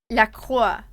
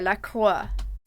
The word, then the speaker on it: La Croix: Okay, so it's the pronunciation, the correct pronunciation is La Croix. Like with the French R, La Croix.